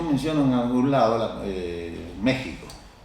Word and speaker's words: México: Y entonces así como dicen nexaca o Axaca o Texas dicen México porque no saben decir México, pero en castellano es México y ella me dice no.